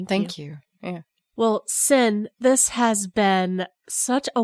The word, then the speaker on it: Cyn: just so people know your name is spelled c-yn for sin is s-h-r-a-d-e-r no